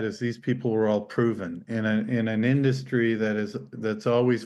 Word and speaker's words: PRVN: It's called Proven, but it's not spelt with an O Yeah, I'll or an start.